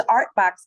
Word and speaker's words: OurtBox: Now, so the name of your building, of your building is It's ArtBox Cafe, but it's spelled O-U-R-T.